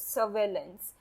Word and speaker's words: surveillance: The R is silent and it is pronounced as surveillance.